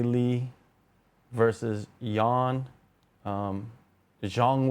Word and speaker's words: Zhang: vers versus Yan um Jang wh which is how you say it Chinese people say it and then Yan Jan or westerners will say way Jang and xan what why